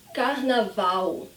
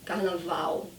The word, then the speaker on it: carnaval: So again, how does it sound to you? How would you write that sound in your own language, this vowel at the end? English speakers would probably write, like I'm showing there, V-O-W, carnaval. So you have to remember that sound of the L.